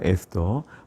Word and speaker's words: 에스더: 명칭에 대한 부분을 보시면 히브리어로는 에스텔이라고 발음을 합니다 또 영어로는 에스라 그대로 되어 있고요 우리말도 그냥 에스터 어 본문의 주인공 사람